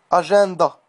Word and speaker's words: agenda: Les lettres EN, lorsqu'elles sont à l'intérieur d'un mot, se prononcent généralement AN, en. Cependant, dans certains mots empruntés au latin et au grec, on les prononce plutôt un. Exemple classique. Agenda, avec IN.